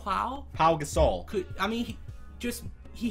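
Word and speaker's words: Pau Gasol: was it Paul Gasol there's no l it's not Paul it's just Paul pa pa Gasol po Gasol I mean he just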